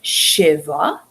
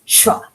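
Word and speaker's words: שְׁוָא: Over here you have the shin with the the shva underneath it, and instead of shiva, it's shva. Instead of it being a two-syllable word, it's a one-syllable word, shva.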